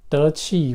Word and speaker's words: 得气: It's called 得气, which is spelled as like that, DEQI, 得气.